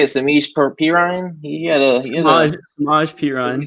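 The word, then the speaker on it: Samaje Perine: The Bengals won 37-31, and how you say it, Samish Perine?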